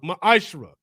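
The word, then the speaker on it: מעשר: It means 10th in the Hebrew and is pronounced ma'ashra.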